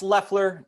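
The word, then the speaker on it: Loeffler: he luffler from chevelle it is loffler right uh it's lefler to us i mean the o is silent but uh loffler works too well that reminds me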